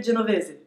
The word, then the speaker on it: Genovese: comment ça se prononce on va partir du principe que c'est italien et qu'il faut prononcer genovz et si je me